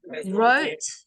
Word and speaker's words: wrote: war is from wear wrote so the W silent is from right so